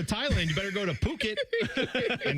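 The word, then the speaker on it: Phuket: you better go to Puket and sell that on it. That's a t-shirt, people. That's a You can't read that one the correct the way it looks. It's not the way it's spelled.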